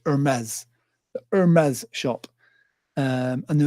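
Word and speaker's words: Hermès: ended up in the Hermes shop I never say it right it's supposed to be Hermes Hermes shop um and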